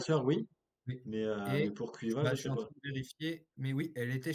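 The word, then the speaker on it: Caoimhe: Euh donc si je vous l'appelle C A O I M H E, vous prononcez comment ? Maintenant, on sait nous donc c'est moins drôle. Et ben on va donc prononcer Cuiva.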